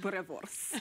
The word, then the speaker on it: boerewors: And there is a special sausage that they know that is typical South African, but they could never pronounce the word. And guess what? That is boerewors.